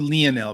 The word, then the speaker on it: Lionel: people go lionel i'm going to go with leonel because the most famous of them all on the planet lionel messi pronounces leno so thank you for the thumbs